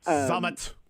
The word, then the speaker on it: Zammit: But Zammit. There you go. Zammit. Rees Zammit. Rees Zammit. But almost like Lee Summit, And I am not